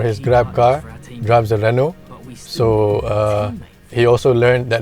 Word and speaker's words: Renault: Of the 4 engines, obviously Abang Grepfud is going to choose Renault. I mean, Abang Grepfud, for his Grab car, drives a Renault.